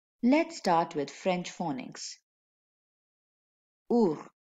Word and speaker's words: ours: And if you listen carefully, there is a silent letter in this word. Can you guess what it is? Our. Yes, you're right. The silent letter is S. Let me read one more for you. D. D. Which is a silent letter here? Yes, you're right. The letter S is silent.